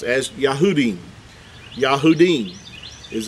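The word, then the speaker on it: יהודים: it's a group of Jews they would be pronounced as yahudim yah houdin is how you would you would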